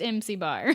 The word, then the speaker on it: MC-: But it's pronounced MC Bar.